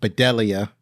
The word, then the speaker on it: Bedelia: I want to say her name is pronounced Bedelia.